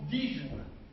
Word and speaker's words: disjoints: A et B sont disjoints. On ne prononce pas le S.